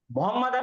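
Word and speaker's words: محمد: spelling check करते तो इसकी करेक्ट स्पेलिंग अरबी में ये है मोहम्मद मोहम्मद मीम पेश है हा पे ज़बर है और फिर मीम के ऊपर तजदीद के साथ ज़बर है और दाल मोहम्मद मोहम्मद मोहम्मद पढ़ा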